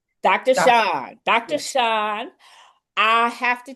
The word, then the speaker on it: Shon: Sean, uh, author of When Silence Screams. And am I pronouncing your name right? I feel like I didn't pronounce Dr. Shawn.